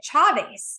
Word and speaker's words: Chavez: And if you're, Hispanic or in a Spanish speaking country, you would pronounce it Chavez.